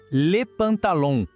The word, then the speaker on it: le pantalon: Para a calça, a palavra é le pantalon. O segredinho aqui é o som nasal no final. Aquele som que parece que sai um pouco pelo nariz, sabe? Escuta com atenção. Le pantalon.